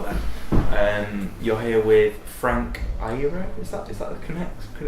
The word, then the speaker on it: Iero: You're here with Frank Iero. Is that the correct pronunciation?